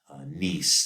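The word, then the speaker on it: gneiss: of as foliated this niece these you pronounce this niece so um so when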